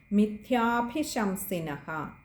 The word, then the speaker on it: മിഥ്യാഭിശംസിനഃ: അതുപോലെ മിഥ്യാഭിശംസിനഃ, അവിടെ വിസർഗം ശ്രദ്ധിക്കുക.